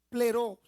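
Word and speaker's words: πληρόω: Pleró. Así mismo, con acento en la primera O.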